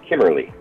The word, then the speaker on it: Kimmerle: It's pronounced Kimmerle.